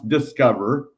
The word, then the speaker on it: DSCVR: like that already um at dscvr pronounce discover oh oh okay well